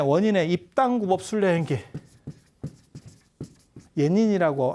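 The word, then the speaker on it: 円仁: 입당 구법 순례 행길 예닌이라고 하는 사람이에요 일본 발음으로는 이 사람 굉장히 특이해요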